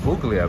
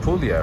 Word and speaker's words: Puglia: I used to call it Puglia, but it's like Puglia, right?